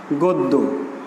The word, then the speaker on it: গদ্য: এই গদ্য শব্দটি যদি আমরা লিখি, আমরা কিন্তু গদ্য বলি না, আমরা এর উচ্চারণটা করি এভাবে, গদ্য।